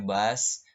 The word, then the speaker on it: bus: bahasa Inggris menyebutkannya brush bus itu dibacanya bas bas stop bastop hatinya pemberhentian bus